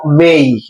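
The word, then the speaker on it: may: shall should will would মে না অনেকে বলে মে না যেখানে শব্দের শেষে যদি এই ওয়াই থাকে সাউন্ড হবে কিসের মত এই এর মত তাহলে এম হইছে মেই সাউন্ড কি মেই কি হবে মেই এই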